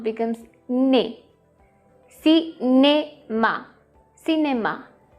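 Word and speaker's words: cinéma: So every time you see E accent aigu, that means it has to be pronounced like A.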